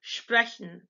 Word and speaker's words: sprechen: The SP and ST sound is actually pronounced like sh, sh or sh. So it's the sh sound and then P, or the sh sound and then T. So you see the word underneath would be pronounced sprechen, not sprechen, but sprechen.